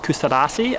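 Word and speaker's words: Kuşadası: So there's a port town called Kustadasi, I think is how you say it, just about 30 minutes drive away.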